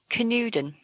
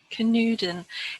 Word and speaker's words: Canewdon: I've looked up how to pronounce it, and I think I'm going to do it right. Canewdon. Canewdon. It looks like a Welsh name.